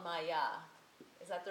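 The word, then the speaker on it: māyā: And so this period is what's called Maya.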